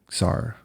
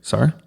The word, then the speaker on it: czar: I think Bradford did a traffic SAR. Is that the right word? SAR? Like it's spelled like CZAR.